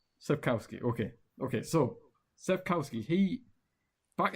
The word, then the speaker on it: Sapkowski: Andres Sapkowski.